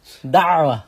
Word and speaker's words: da'wah: Da'wah, with a good ayn pronounced on there.